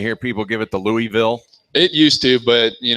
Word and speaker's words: Louisville: from Louisville Kentucky yeah we need a proper pronunciation of the city name because uh I know the natives do not call it Louisville correct Louisville Louisville Kentucky it's the proper does that does that